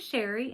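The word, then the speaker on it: Chere: My name is Sherry and that is spelled C-H-E-R-E. It is spelled a little fancy but pronounced plain old Sherry.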